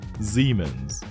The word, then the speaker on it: Siemens: and the last one is yes it is Siemens Siemens so dear friends this is it for